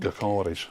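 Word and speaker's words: Gyökeres: will Highland be the new garus that's how he say his name Garis gar is the strike the strike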